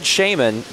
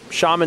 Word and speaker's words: shaman: I'm gonna dress this I said Shaymin because that's that's a pronunciation that we use shaman is probably more common but you can say both but but for the